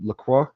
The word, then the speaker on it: LaCroix: to check out uh Lacroix Lacroix LaCroix I'm not sure guys I'm not good with the French but that I'm pretty sure that x is silent anyway that's what